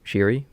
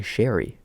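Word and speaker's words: Zary: you hear the controversy not controversy but Connor shiri how we pronounce been pronouncing it forever Connor shiri oh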